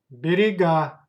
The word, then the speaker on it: берега: Please pay attention to the stress. Stress goes to last syllable. Берега, берег, берега.